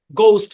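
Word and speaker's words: ghost: দেবে এটাই এটাই ব্যাখ্যা আর কোন ব্যাখ্যা নাই গোস্ট উচ্চারণ কি গোস্ট ঘোস্ট মানে হচ্ছে ভূত আর কি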